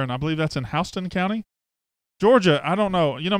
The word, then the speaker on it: Houston: You know, Mississippi has some words that they pronounce their own way, like Lafayette is Lafayette in Mississippi, and there's others. Yeah, Houston should be Houston. Houston is Houston.